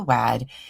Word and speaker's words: Wad: Jack the Lantern, Joan the Wad, that tickled the maid and made her mad. Oh, it rhymes with mad, so it's definitely wad.